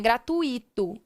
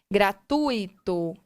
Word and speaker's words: gratuito: E na palavra gratuito também não, porque não é gratuito, e sim gratuito.